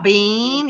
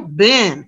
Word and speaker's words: been: have you been no i'm not a bean you know how have you been so again here's a very good example of e long sound bin short sound you have to hear